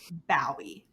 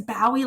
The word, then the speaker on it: Bowie: was like oh no he's a dog it's a pun like bow wow wow yeah and then rachel texted me this time and was like is bowie like is that on